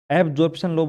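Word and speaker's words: absorption law: अवशोषण नियम, जिसे आप कह सकते हो इंग्लिश में एब्सॉर्प्शन लॉ। एब्सॉर्प्शन लॉ। थोड़ा ध्यान से बोलना है इसको, ठीक है? एब्जॉर्प्शन लॉ बोल सकते हो आप इसको, प्रोनाउंसिएशन इसका अच्छा तरीके से करना।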